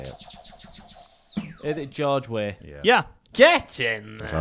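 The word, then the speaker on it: George Weah: yeah um how to say it is it George way yeah yeah yes in I was going to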